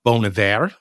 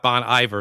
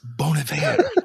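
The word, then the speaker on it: Bon Iver: Uh, Bonav is his that's how you pronounce it. The name Bon Ivor. It's not Bon Ivor. It's Bon. It's like Bon Joy. Bon Ivor. It's Bonav, you know.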